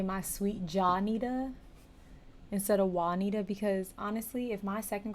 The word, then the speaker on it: Juanita: sweet Johnita instead of Juanita, because honestly, if my second grader looked at that, she would say Johnita. She wouldn't say Juanita with a W. She would say Johnita with a J.